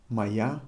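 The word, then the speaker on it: моя: we say my car maya machina i'm writing it moya however i'm pronouncing it try to pronounce the way i'm pronouncing this however as i told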